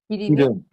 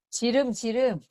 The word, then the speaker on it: 기름: 기름이요? 기름. 지름. 발음이 좀 잘못된 거지. 네, 사투리. 기름. 지름 떨어졌냐 그러거든요. 네. 서울에 오니까 기름이라고 그러더라고. 네, 충청도는 지름이라 그러더라고요.